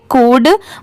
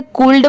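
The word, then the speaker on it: could: डी इसे क्या पढ़ेंगे कुड बहुत सारे लोग इसे गलत प्रोनाउंस करते हैं इसे कल्ड पढ़ते हैं बट यहां पर जो लेटर एल है वो लेटर साइलेंट है तो यहां पर सिर्फ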